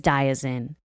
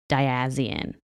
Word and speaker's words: Diazien: His name is Diazien, and I kept pronouncing it Diazien.